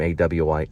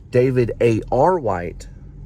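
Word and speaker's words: David A. R. White: white and I get I got his name wrong earlier for some reason I called him aw white sorry about that David David a r white okay is a film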